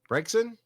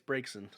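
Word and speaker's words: Braixen: a break break said how do you say that b-r-a-x-n yen brexin uh i'm not sure right i what it's the dancy fox oh uh yeah i think it's breaks in i can do one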